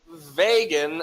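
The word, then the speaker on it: Vågan: vagin wallet seeking wallet you know rhymes with reagan he is watching that's a $40 vegan leather premium wallet okay so vagin i think that's how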